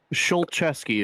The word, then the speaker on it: Schultes: Schultes is how it's pronounced.